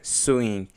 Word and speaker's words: sewing: The stress is on S, sewing, and machine stress is on CH.